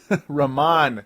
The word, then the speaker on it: Ramon: excuse me Raman sessions as I'm finally able to say it correctly I may have said it correctly on a previous show um Johnny Flynn was the first guy to say that I you know I heard say it correctly Raman sessions as I'd been saying Raymond sessions forever over the last couple years when he was a